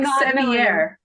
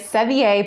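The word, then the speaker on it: Mylchreest: little bit better because it's sound like seier yes it is seier but he said he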